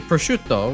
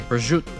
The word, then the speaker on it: prosciutto: Or like how you say prosciutto, where actual Italians say prosciutto. Well, that's Italian-Americans say prosciutto. Real Italians from Italy, they don't drop any, they don't ever drop any damn vowels. Every letter is precious to them.